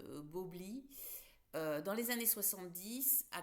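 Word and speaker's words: Bowlby: Donc le psychologue, alors je vais le prononcer à la française, Bobli, dans les années 70, a créé une théorie de l'attachement.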